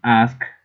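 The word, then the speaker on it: ASCII: So for example, we've got an ask, that's how it is pronounced.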